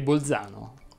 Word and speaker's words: Bolzano: z sorde o aspre la z andrebbe pronunciata sorda quando è davanti alla consonante l infatti si direbbe rialzare rimbalzare smilzo calzolaio infilzare balzello balzano sobbalzare calza innalza le uniche eccezioni sono belzebù e bolzano la prossima settimana ci